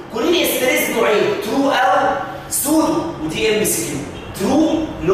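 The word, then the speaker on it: pseudo: سودو اول حرف فيها بي، هي ما بتتنطقش.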